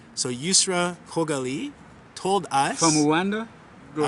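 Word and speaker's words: Yusra Khogali: Sorry, I'm going to say Yusra's name properly because we used to say a lot Yusra Kogali in the media. And I've been corrected that it's Kogali. So I'm going to say it properly. So Yusra Kogali told us...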